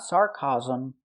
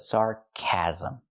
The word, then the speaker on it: sarcasm: Remember, this word has 3 syllables. Sarcasm. It looks like 2 syllables, but it's 3. Sarcasm. Not sarcasm, but sarcasm.